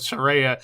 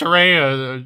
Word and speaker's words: Saraya: to have sex with Saraya apparently it's pronounced Soraya she wants us to call her Surrey it says Soraya but tomato tomato it's neither here nor there